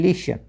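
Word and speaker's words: listen: T silent रखना है। तो एच एस टी ई एन हेसन एल आई एस टी एन लिस्टन नहीं लिसन ओ एफ टी ई एन ऑफन नहीं ओफन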